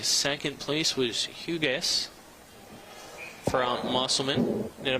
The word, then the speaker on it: Hugas: Looks like second place was Hugas from Musselman. Did I pronounce that correctly?